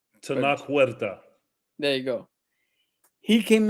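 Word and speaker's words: Tenoch Huerta: The guy who played Namor, who I can't pronounce his name. Tanac Huerta.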